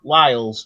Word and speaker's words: Wiles: today I would like to welcome Miss Taylor Wiles to the show and hopefully I pronounced the last name correctly because I do